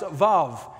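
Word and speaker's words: ו: Tonight we're looking at the sixth Hebrew letter tonight, pronounced Vav.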